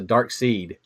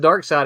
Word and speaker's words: Darkseid: not terribly long ago I always pronounced the dark seed I did as well because it has that funny spelling you know I think darkseid's better personally if someone someone said dark side I'm like I'm not